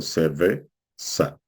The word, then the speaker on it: cerveza: Et par exemple, si ça finit voyelle, on va mettre le poids de l'accent sur la avant-dernière syllabes. Par exemple, cerveza.